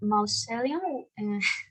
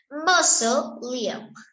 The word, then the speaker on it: mausoleum: Teacher, is pronunciation mausoleum? No sé pronunciar. Okay, no problem. Mozo, Liam. Okay. Hagan de cuenta. Mozo. Mozo. Y asocienlo al nombre Liam. Listo. Mozo Liam. Mozo Liam.